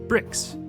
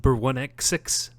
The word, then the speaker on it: Br1xx: know what i'm sorry is it is it bur1x6 i don't want to say it wrong okay oh it's brick just making absolutely certain